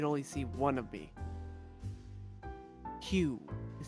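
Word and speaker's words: Hugh: so you can only see one of me q is spelled h-u-g-h he's a silent invisible o doesn't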